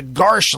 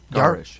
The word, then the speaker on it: garish: Today's Washington will not be found in the Garsh light of gold. That's what it says, Garsh. What's Garish? Garish? Yeah, it's garish. What does that mean? It's 2 syllables.